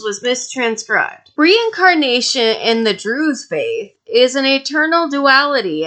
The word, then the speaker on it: Druze: juices are able to think it's druzes what is it it's drew's it's kind of like deer or fish how do you say